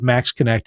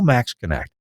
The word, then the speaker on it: MaxxKonnect: Call Max Connect. They will absolutely take care of you and make sure it's done right. The website, Max Connect. I know it's spelled funny. MAXXKONNECT for Max Connect.